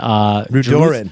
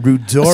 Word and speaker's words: Rudoren: Let me correct you. Rudoren. See, we were wondering about your pronunciation. No. I clarified We're all in wrong, advance. and you're right. No, she's right. I'm not right. It's Jodi Rudoren. Rudoren. You got to know that.